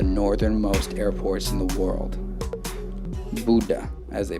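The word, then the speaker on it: Bodø: one of the northernmost airports in the world buddha as they pronounce it to cycle one of norway's most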